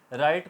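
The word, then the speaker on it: write: आया उससे बात ए रहा है तो ब्लू साइलेंट हो गया राइट को हम ब्लू आर आई टी लिखेंगे राइट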